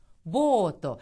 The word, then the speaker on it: ボート: 이렇게 발음을 해야 되고 그 다음에 보트라는 거 있잖아요. 우리는 그냥 보트라고 하지만 일본에서는 보토. 자, 여기를 보시면 가운데에 들어간 요 부분 이거는 뭡니까? 장음 표시죠. 그래서 보토 하는 식으로 길게 발음합니다. 보토라고 발음한다는 거 꼭 유의하시기 바랍니다.